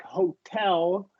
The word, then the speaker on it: hotel: So a word like hotel is between two vowel sounds, but the syllable after T is stressed. So right, hotel.